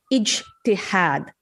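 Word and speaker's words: ijtihad: on a particular tradition in islam pronounced ich tihad ichtihad and that is islam's own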